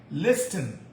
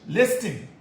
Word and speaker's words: listen: Listen. L R S T E N. American English. Listen. British English. The T is silent. Listen. Listen.